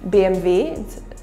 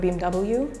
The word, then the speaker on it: BMW: Mercedes by the way we say Mercedes in in German it's not Mercedes is Mercedes and BMV instead of BMW and Audi and Volkswagen